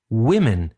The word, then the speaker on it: women: an we say Meen but in pronunciation we change the first part of the noun we say woman for one women for two or more and we have the